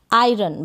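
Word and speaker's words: iron: एन यानी ये जो एन को है न पढ़ रहे हैं, एन का प्रोनाउंसिएशन न हो गया और ओ का अ। आयरन बन गया लोहा या इस्त्री, इस्त्री यानी प्रेस, वो आयरन, ठीक है, लोहा या इस्त्री।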